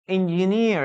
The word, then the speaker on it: engineer: Entonces, engineer, estamos hablando de ingeniero. Recuerden que la última es una sílaba, es una vocal larga. Engineer, ¿ya? Tienen que alargar la vocal. Es una sola vocal, pero es alargada.